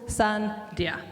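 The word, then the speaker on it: Sundeer: It's like like the sun and then dear together. Two syllables, sun dear.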